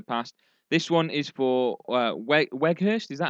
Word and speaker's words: Weghorst: This one is for Weghorst. Is that how that's pronounced? Weghorst? Wout Veghorst. Veghorst. There you Yeah, go. love that. Veghorst.